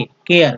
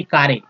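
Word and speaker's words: care: और सी को क बोल रहे हैं तो के, केयर, न कि कारे, न कि केरे।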